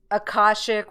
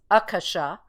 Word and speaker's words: akasha: you know some of the new agers call it uh akashic which they're mispronouncing it's akasha and uh it was just